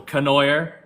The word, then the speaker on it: Conoyer: Um my name is Conoyer.